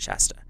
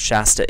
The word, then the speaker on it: Shasta: So your message from Source is Mount Shasta, or Shasta, depending on how you say it. I say it Shasta.